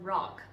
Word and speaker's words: rock: If so, then I think you must know rock. And in Vietnamese we say rock. Rock. Okay? The R sound, we will not pronounce it too strongly, but instead we pronounce similar to English. Rock.